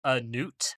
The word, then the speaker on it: Nut: Look, so it's Egyptian, so it's probably pronounced Newt, but it is spelled N-U-T. Nut.